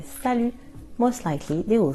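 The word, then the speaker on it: salut: After six we use and in an informal way you can use sal be careful the t is silent sal and usually the person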